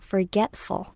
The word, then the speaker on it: forgetful: 두 번째 음절, 즉 get에다가 좀 더 강세를 주시면 편한데요. Forgetful.